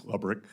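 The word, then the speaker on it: Lebryk: And I believe you were approached by the highest ranking career official at Treasury, David Lebrick. Am I pronouncing his name correctly? I believe it's Lubrick. Lebrick?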